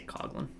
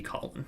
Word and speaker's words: Coughlin: I say Coughlin, but it should be Collin because it's, yeah.